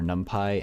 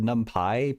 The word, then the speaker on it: NumPy: I've always said numpy because the P is capitalized so it looks like Python.